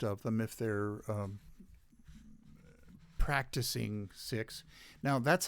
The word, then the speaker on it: Sikh: about them call them sikhs well that that's not right i think uh the the six don't mind being called sikhs because in english it sounds like they're being called sick well that's kind of